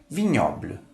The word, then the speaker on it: vignoble: Observe como se escreve em francês e como se pronuncia. E para terminar, a palavra vignoble, que significa vinhedo.